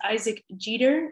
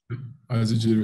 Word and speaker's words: Isaac Jeter: And with me today is Isaac Jeter. Is that how you say it, Isaac? Isaac Jeter, yeah.